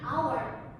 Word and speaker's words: hour: For the example, we waiting in this classroom for an hour. Bukannya itu dibacanya hour ya, Miss? No, it's not. is a silent. H-nya itu tidak dibaca menjadi our.